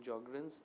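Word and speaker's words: Sjögren: HLA DR3, Sjogren's syndrome, in Sjogren's S is silent, HLA DR4, rheumatoid arthritis, Next, HLA A1 and B8, HLA A1 and B8 is associated with sarcoidosis.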